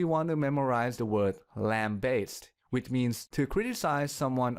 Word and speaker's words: lambaste: For the first syllable, lamb, we can use lamp, the animal, or lamp, the thing that generates light, as the substitute word. Now for the second syllable, bass, we can use bass,